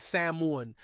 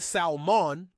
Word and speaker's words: salmon: mortgage the next word is salmon the correct pronunciation is samon as in both the fish and the aforementioned architectural firm it's not salmon as in both the fish and the person